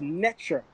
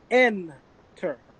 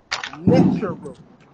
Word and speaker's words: Neter: who pronounce it as enter and i want to make this clear that is a coptic pronunciation and the coptic pronunciation is flawed by greco-roman influence anyone who studies the